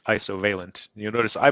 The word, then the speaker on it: Isovalent: Yeah, and Vusa has a question here, what is the correct way to pronounce Isovalent? You'll notice I pronounce it Isovalent like isovalent bond in chemistry.